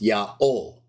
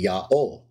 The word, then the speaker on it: Yaho: Even Jerome, writing in the fourth century, says that the divine name, the Tetragrammaton, is to be pronounced Yaho.